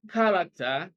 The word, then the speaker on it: character: on the first syllable in B character stresses on the first syllable C designate stresses on